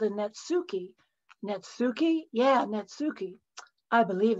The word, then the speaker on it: netsuke: have to confess that when i was training my mind to say netsuke instead of nitsuki i thought of netscape if it just left